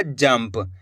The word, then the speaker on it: जंप: तो अपन ने इस शब्द को कैसे पढ़ा, जाम अनुस्वार की मात्रा जम प, तो मिलकर बन जाएगा जंप। आधा माँ का उच्चारण कर दिया।